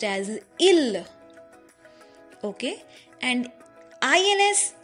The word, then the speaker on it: ils: healer i LS so in french we do not pronounce the S in the end of a word so ILS will be pronounced as ill okay and ILS ill means day they which